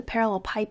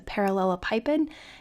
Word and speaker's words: parallelepiped: find the volume of the parallel pipe it also sometimes pronounced the parallelepiped determined by the vectors